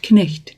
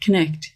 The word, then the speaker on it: knicht: Pronounce all the consonants in the word, even with words like knicht.